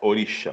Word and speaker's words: orixá: como os orixa porque a pronúncia correta em Ubá é essa orixa mas vamos falar orixá porque somos brasileiros os orixás né eles